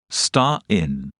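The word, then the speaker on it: Stein: the German word for stone is star in pronounced star in star in is also two words together IST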